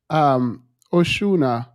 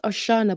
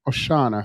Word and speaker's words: Oshana: I think Truth Teller was saying, anywho, Oshuna. Hello, Themis and guests. Thank you for inviting me. It's pronounced Oshana, by the way. Oshana, sorry.